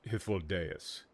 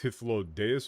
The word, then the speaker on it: Hythlodaeus: I believe it's pronounced Hifoldas. I'm not entirely sure though. I don't I can't remember it's Hithlo Deas or Hiflo, but the uh the